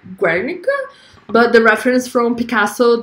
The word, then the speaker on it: Guernica: see what you're saying pronunciation is Guernica Guernica like that ah so that you